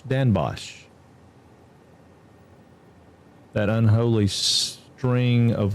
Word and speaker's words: Den Bosch: We just say Den Bosch. Pronounced Dan Bosch. Dan Bosch.